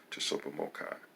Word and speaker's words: TSOPAHMOCCI: this most esteemed effort pronounced to super mocha t-s-o-p-a-h-m-o-c-c-i which stands for the